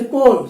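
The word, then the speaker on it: coal: ऐसे कोल, सी ओ ए एल, इसमें 4 letter है, 4 लेटर में ए उच्चारण नहीं हो रहा, ई के उच्चारण हो रहा, के आर एल।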